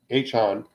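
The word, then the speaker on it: Achane: Achon.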